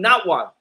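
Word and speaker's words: Nawat: you can call me notwa because those are both my my original heritage my original language that's where i come from right and and now what is pronounced just like that n-a-w-a-t not what you know what i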